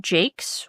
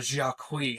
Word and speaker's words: Jacques: of Red Wall um by Brian Jakes, which is it's spelled Jocks. Yeah, we talked about that a couple days ago because I was befuddled to find out his name is not Jacquis cuz all these years